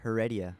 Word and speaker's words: Heredia: My last name's Heredia.